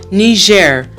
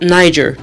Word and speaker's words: Niger: It used to be a French colony, that's why French is the official language, and the pronunciation of the country's name is Niger, also in English, not Niger, which was quite surprising to me.